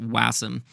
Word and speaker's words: Wasm: wasum you can basically or wasum I don't know how people pronounce it but I pronounce it wasum with wasam you can